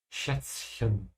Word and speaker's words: Schätzchen: It could be a bit annoying to pronounce these two letters back to back because the Z sound like TS as well. So it's sort of like there's double T. Schätzchen.